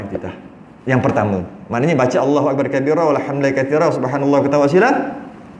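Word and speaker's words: الله أكبر كبيرا: Allahu Akbar kabira. Bukan Allahu Akbaru kabira. Tapi benda tu benda kecil, tak payahlah nak viral-viral. Cuma yang betul bacanya Allahu Akbar kabira.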